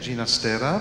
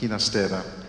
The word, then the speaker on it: Ginastera: Je viens d'expliquer qu'il préférait lui-même que son nom soit prononcé à la manière italienne, Ginastera, puisque sa mère était italienne et son père catalan, et non pas à la manière castillane, hispanique, Ginastera.